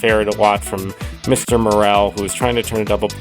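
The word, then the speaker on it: Morel: Morrell, who was trying to turn a double play, lets the ball hit his glove and roll away.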